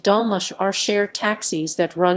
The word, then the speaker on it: dolmuş: In Turkey and Turkish-controlled Northern Cyprus, dolmus, pronounced dolmuş, are shared taxis that run on set routes within and between cities.